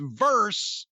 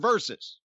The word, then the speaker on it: versus: It's not Nia Jax verse fucking Pat Buck.